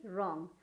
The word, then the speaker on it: wrong: के टाइम में आपको WRAP, रैप, WRITE, right, WRINKLE, wrinkle, या फिर WRONG, रॉन्ग। यहाँ आर जितने भी आप देख रहे हैं ये सब एक रूल्स है, जिसकी वजह से आपको क्या पता चल रहा है कि W क्या हो गया, साइलेंट हो गया।